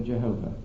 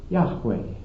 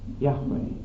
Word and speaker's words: Yahweh: What we do know is this, that J in Hebrew is always pronounced like a Y to us, and that V in Hebrew is always pronounced like a W in our language.